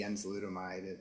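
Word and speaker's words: enzalutamide: Armstrong, I know that you were involved in a study of a treatment using a combination, I'm going to mispronounce this, of enzolutamide with androgen deprivation therapy.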